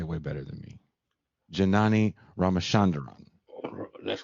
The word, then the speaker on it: Janani Ramachandran: pascal because you say way better than me janani ramachanderon that's correct an east bay native where i'm